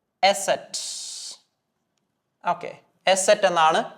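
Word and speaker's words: ß: നിങ്ങൾ സിമ്പിൾ ആയിട്ട് മനസ്സിലാക്കുക നമ്മൾ പഠിച്ച എസ് എന്ന് പറയുന്ന ആൽഫബെറ്റിന്റെയും സെഡ് എന്ന് പറയുന്ന ആൽഫബെറ്റിന്റെയും ഒരു കോമ്പിനേഷൻ ആണ് നമ്മൾ എസ്സിനെ എന്താ ജർമനിൽ പഠിച്ചത് അതെ എസ് സെഡ് എന്നതിന് നമ്മൾ സെറ്റ് ഇത് രണ്ടും ഒന്ന് കൂട്ടി വായിച്ചാൽ മതി എസ് സെറ്റ് എന്നാണ് ഈ ആൽഫബെറ്റ് അറിയപ്പെടുന്നത് എസെറ്റ് ഓക്കേ എസ് സെറ്റ്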